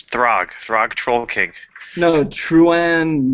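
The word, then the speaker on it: Throgg: TR how do you say that name it's throg throg troll King no truan morish yeah the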